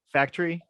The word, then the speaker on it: Faktury: so common uh but it's like fact and then re right factory absolutely right how much is this the u is is silent gotcha cool um and